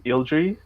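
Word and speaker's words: Ylldrix: developed one for my fantasy uh it's called ildry it's spelled y-l-l-d-r-i-x it's made up of a japan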